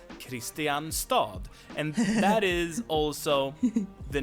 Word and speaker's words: Kristianstad: It's due to dialects and so on and this is the pronunciation that got spread throughout the country. So this is the real pronunciation. No one says Kristianstad.